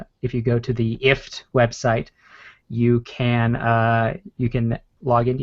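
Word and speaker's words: IFTTT: But yeah, so if this then that, which apparently they intend for you to pronounce ift is apparently what they I was not aware of this.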